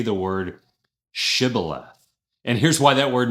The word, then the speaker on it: Shibboleth: The Ephromites had a a little bit of a regional accent and they couldn't pronounce the sh, the shh sound, and instead said civilith.